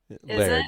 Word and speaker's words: laird: And actually, in Scotland, it's not technically Lord; it's Laird. Laird, it? yeah. It's Like in Laird's Applejack, spelled the same way. Sure. Yeah, absolutely. Not as in lard, as in like me, lard Yeah.